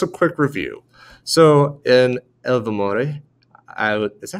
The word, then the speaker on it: Ilvermorny: So in Ilvermorny, is that how you say it? Ilvermorny, yeah.